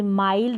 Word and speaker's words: माइल्ड: आई के बाद में एल डी है। आई के बाद एन डी है। आई के बाद एन डी है। तो यहां पर हम आई को आई प्रोनाउंस करेंगे। जैसे माइल्ड हो गया।